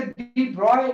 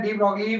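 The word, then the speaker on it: de Broglie: What is द डी ब्रॉगली wavelength, वैसे डी ब्रॉय pronunciation होता है इसका, है ना। डी ब्रॉगली हम ऐसा बोल देते है ना, वैसे डी ब्रॉय इसका एग्जैक्ट प्रोनाउंसिएशन। तो हम यहाँ बात करते हैं डी ब्रॉगली wavelength of charge particle.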